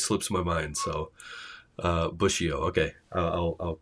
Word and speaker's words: Bussio: just it always slips my mind so uh busio okay I I'll I'll correct my uh head pronunciation for that so glad to have you